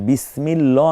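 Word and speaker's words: بسم الله: কোনটা সহি এরপরে হচ্ছে বিসমিল্লাহ না বিসমিল্লাহ দেখুন বিসমিল্লাহ বারিক হবে আল্লাহ শব্দটা বারিক হবে এখানে আল্লাহ চমৎকার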